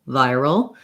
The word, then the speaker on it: viral: vi syllable viral um if you're noticing that they seem the same to you you're probably using a flap instead of an american r your tongue is going forward like viral a little like a rolled or flapped arm so you want to pull the tongue back do the american r r roll viral and then this one